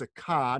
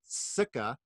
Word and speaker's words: Sukha: But as I understand it, the emphasis is on the second syllable, thus the line over the A, so it's Sukha, not Sukha, because she's no Sukha.